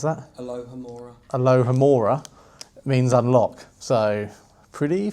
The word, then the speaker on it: Alohomora: And obviously I'm going to not even, how do you pronounce that? Alohomora.